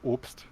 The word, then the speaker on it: Obst: not uh Ops or it's actually pronounced Ops um it's like a German word for fruits and so I